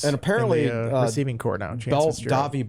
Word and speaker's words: Davi: Davi Belfort. You don't say the T. The T is silent. Davi Belfort.